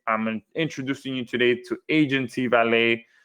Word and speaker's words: Aigency: Okay, I'm introducing you today to Aigency Valet. The I is silent. All right, it's just there for pretty much visual aesthetics.